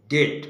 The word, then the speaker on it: debt: ইন ডেট মানে ঋণী থাকা, DEBT, ডেট উচ্চারণ, বীর উচ্চারণ।